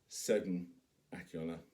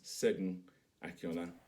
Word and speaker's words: Segun Akinola: But if you're wondering how to pronounce my name, it's Segun Akinola. So one more time, it's Segun Akinola.